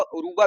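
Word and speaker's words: Yoruba: आर यू बी ए रुबा इसको रोबा उरूबा भी पढ़ते हैं अब अपना देख लेना रूबा ओ आर यू बी ए Y silent कर देना रूबा मैथोलॉजी एंड क्रिट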